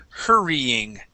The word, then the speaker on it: hurrying: First up, we have the word hurrying. So we do need to pronounce this Y here.